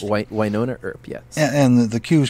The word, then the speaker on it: Wynonna Earp: right Wynonna Earp is that how it's called pronounced Wynonna Earp yes and the queue is called access tonight